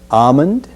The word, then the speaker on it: almond: salmon salmon sammy salmon we'll also eliminate the sound in almond almond we include this object